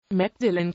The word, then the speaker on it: Magdalen: mcdelline College der Name spricht sich aus ist eines der älteren Colleges der Universität Oxford gegründet im Jahr 1458 gilt mcdillan noch heute als eines